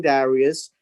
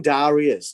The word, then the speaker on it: Darius: In Haggai chapter 1, in the second year of King Darius, in the 6th month of the first day of that month. And this is the King Darius. Now, the word Darius is an English translation.